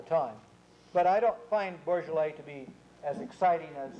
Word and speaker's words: Beaujolais: becoming quite popular at this moment, and that's Beaujolais. It's this little district just south of Burgundy proper. Don't ask me how they pronounce it, Beaujolais, from B-E-A-U-J-O-L-A-I-S, but they do, Beaujolais.